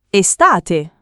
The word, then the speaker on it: estate: Estate. Estate. Estate. Non estate, ma estate con la e aperta.